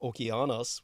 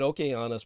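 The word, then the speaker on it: Ὠκεανός: Procularum, and of course the Greek pronunciation of the name Okeanos would be more correct. I don't know if he pronounces it that way, but Okeanos Procularum would be more classical Hellenic.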